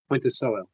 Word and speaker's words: Ponticello: Ponticello. It rhymes with Monticello, as he told me backstage.